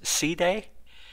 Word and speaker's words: side: means binding actually the the word is more pronounced C Day and it means something more to connecting so technically I guess we should be saying Pi C Day but most English speakers